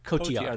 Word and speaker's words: Cotillard: Cotillard.